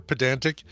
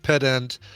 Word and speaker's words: pedant: So Zoe says it's pronounced pedant, even emphasis on both syllables.